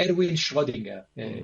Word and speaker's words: Erwin Schrödinger: Entonces, este hombre dice una cosa muy interesante, Erwin Schrödinger, pronunciado así en alemán, que dice, la tarea